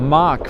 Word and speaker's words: Mach: It's pronounced Mach for reference.